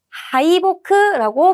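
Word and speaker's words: 敗北: 그래서이기는 것에 아주 욕망이 깊고자 하는 의지가 아주 강한이 가크토 과목 격투가도 아토사레다 토키와 압도되었을 때는 하이보크라고 발음하셔야 돼요.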